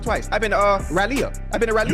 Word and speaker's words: Raleigh: I've been to uh Raleia.